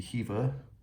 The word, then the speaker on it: Hiva: There's actually a pronunciation. I's or E pronounced like E, so it would be Hiva.